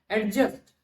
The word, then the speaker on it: adjust: Because this D is a silent letter. Why? Because it is before this J. So which means the word must be pronounced as adjust.